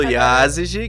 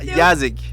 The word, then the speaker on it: Yázigi: temos agora você fala do iases falo do Yázigi que nós vão uma bronca porque falava yazaki eu tenho uma leve e dificuldade inclusive preciso